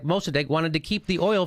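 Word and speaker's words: Mosaddegh: First democracy, and Mossadegh is how you say it.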